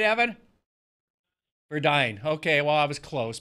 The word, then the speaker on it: Verduin: And Evan Verduin, did I say it right, Evan? Verduin.